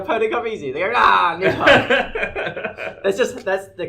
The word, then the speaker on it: Nidhogg: They go, Nidhogg. That's the correct pronunciation of Nidhogg.